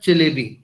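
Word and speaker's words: Çelebi: हिजारफन अहमद चलेबी. ये जो सी के नीचे कॉमा सा होता है ना, ये टर्किश में इसको चे प्रोनाउंस करते हैं.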